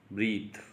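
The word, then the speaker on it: breathe: ब्रीथ जो होता है वो एज ए वर्ब यूज होता है। अगर हम ई को रिमूव कर देते हैं तो इसका प्रोनाउंसिएशन ब्रेथ हो जाएगा। ब्रेथ is used as a noun.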